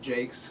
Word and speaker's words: Jaques: think in the restoration I pronounce it Jake.